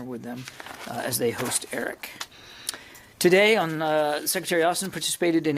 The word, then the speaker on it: AERIC: We pronounce it ERIC here, at Tuskegee University in Alabama.